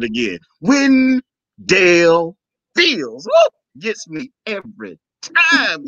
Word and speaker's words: Wendell: name because when they'll say people will say one goal and that's not how my name is pronounced it's when dale so it gives a little umph to it